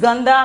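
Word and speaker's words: गंदा: one is ganda okay ganda pronunciation is gandha meaning while playing in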